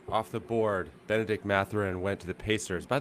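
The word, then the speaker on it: Mathurin: They went with the French pronunciation.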